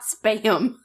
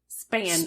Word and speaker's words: Spann: Wait, so her last name is not Spam. Spann. Spell it.